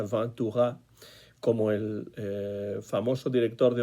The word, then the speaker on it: Ventura: Francia y Mod Ventura, voy a decirlo a la española a pesar de que la pronunciación sería Van Tuga como el famoso director de orquesta de los años 30, Rey Ventura, ¿no?